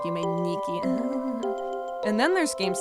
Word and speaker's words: Yume Nikki: There's Yumetuki, which is a play on words because ni means two in Japanese, so it's pronounced Umeniki.